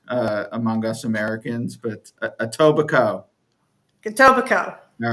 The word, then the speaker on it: Etobicoke: is woodbine is in etobicoke it is not spelled that way but it is pronounced that way okay again it's subject to interpretation but the most that i've heard it pronounced is etobicoke is that a native